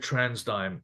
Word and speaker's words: TransDigm: for energy you said trans dime um I've always said transdigm so I'm really glad to hear that that's how you say it's a trans dive um but uh energy